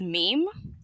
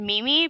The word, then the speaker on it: meme: I said Mimi because it's a character flaw of mine that so I've heard people say Mimi before, like seriously say Mimi because they didn't Yeah. know how to pronounce it.